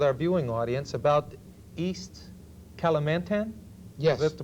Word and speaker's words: Kalimantan: share again with our viewing audience about East Kalimantan yes that's the pronunciation yes are our wood chips we have